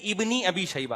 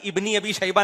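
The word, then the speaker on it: ابن أبي شيبة: शबा साहब बता रहे लोग इसको गलत पढ़ते हैं सही है इबनी अी शबा अबे भाई इबनी अबी शबा नहीं है लबनी अी ये अलिफ साइलेंट है ये हमजा वसलिया कहलाता है इसको लिखा जाता है पढ़ा नहीं जाता ये ऐसा ही है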